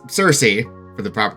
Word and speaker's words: Circe: be corrected because someone did point out the pronunciation because I was saying Circe. It's Circe for the proper pronunciation, weird Greek stuff.